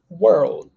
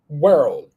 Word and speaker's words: world: world world yes world we can pronounce this word by cutting the letter L we got oh sorry cutting the letter R so it's going to be well World well so with depends if you find it difficult to say you can you can use the pronunciation world the world the world